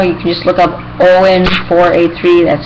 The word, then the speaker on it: Eoin: His channel is everything all year round space Shay, or you can just look up Owen 483. That's spelled EOIN 483.